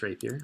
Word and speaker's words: rapier: I was pronouncing it right. It's just rapier, like you would sort of expect.